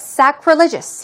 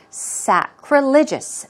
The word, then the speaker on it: sacrilegious: What about sacrilegious? Here we go. A new word for most of us. Sacrilegious. Sacrilegious. Stress goes right there.